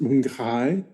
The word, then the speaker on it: Mapinguari: I think you'll find it's pronounced Mapinguari.